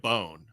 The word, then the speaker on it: Bohn: watching one of the fights and they said it as Bond. So I was like, okay. But you go with Bone. Interesting. So yeah, people Right. call me Bone, but that is not how it's technically pronounced where I come from.